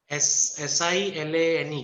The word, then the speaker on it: silane: How do you spell it rather? S-A-L-I-N-E? S-I-L-A-N-E, silane.